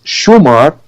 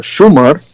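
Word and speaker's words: Shammar: called Chemor only Lebanon, because 1,000 years of Aramaic influence, Syriac influence in Lebanon made we pronounce Shumar, which is the pronunciation in the rest of the Arabian Peninsula.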